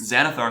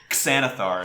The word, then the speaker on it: Xanathar: luck with that Zar does that one start with an x zanthar starts with an X back through you could say santhar if you want to really make it distinct the xanathar are an